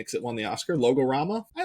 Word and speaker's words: Logorama: Logorama.